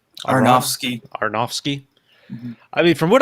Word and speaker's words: Aronofsky: I guess our Darren, how do you pronounce his last name? Aronofsky.